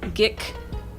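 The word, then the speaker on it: Ghhhk: It's just Gik, but it's spelled like Gahik, with 3 H's in the middle of a G and a K.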